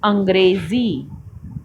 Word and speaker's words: अंग्रेज़ी: बाजार, अखबार, ज़मीन, अंग्रेज़ी, सफ़र।